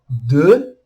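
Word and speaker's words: deux: Tem um X no final, mas a gente não pronuncia o X, igual a gente viu na letra B anteriormente. Então fica de.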